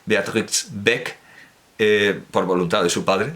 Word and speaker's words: Beatrix Beck: libro de Beatrix Beck, la X se pronuncia, Beatrix Beck, por voluntad de su